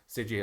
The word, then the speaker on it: Seiji: Seiji. I just had to double check to make sure I don't butcher the name for every.